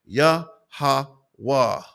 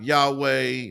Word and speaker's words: Yahweh: the tetragramaton okay and phonetically that is the sounding of the most high power's name yahawa okay not Yahweh not uh whatever people are calling him it's Blasphemous to even put a different name on the most high